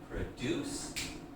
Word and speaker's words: produce: Then to make a noun, we just change the syllable stress.